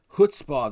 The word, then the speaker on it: Chutzpah: Most people are pronouncing it, ch, but it's huh.